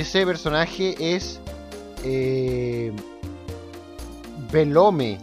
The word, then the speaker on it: Belome: Y ese personaje es Velome, o por lo menos escribe Velome. Se puede pronunciar Belom. Belom. Yo le decía Velome.